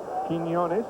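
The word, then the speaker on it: Quiñones: over his first in so it's a yeah quinones the shortstop bonilla at third ortiz the catcher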